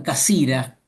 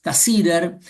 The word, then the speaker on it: Cassirer: Los alemanes lo pronuncian Cassira, casi, pero todos lo conocemos como Ernst Cassirer, uno quizás de los